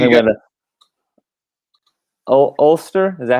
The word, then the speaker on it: Ulster: So looks like you got Ulster, is that how you say it? Am I saying that right? Ulster?